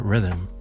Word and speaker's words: Riddim: it's called The Rhythm and that's Rhythm pronounced in Jamaican pwa traditionally you'll have multiple